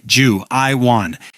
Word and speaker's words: Juivan: Smiling, he points to himself and slowly pronounces his name Ju-I-Wan. He knows they don't understand Korean, so he speaks each syllable very slowly and clearly, hoping they might at least remember his name.